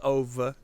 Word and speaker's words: Ove: so a man called OVA I they call him OVA in the movie but it's spelled ove so for all intents and purposes I think I'm just gonna say a man called ove is a movie about